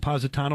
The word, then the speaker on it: Positano: Positano my pronouncing your name right that's correct and John